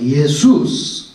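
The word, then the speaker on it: Ἰησοῦς: 그리스말로 보세요 예수스 단어가 예수스 예스를 영어로 고대로 번역해 가지고 렇게 만들었어요 그래서 발음이 뭐가 됐어요 지저스가 됐어요 지저스 근데 지스만 원래 발음은 예수스 예수스 크리스토스 이렇게 되는데 한국말이 더 정확해요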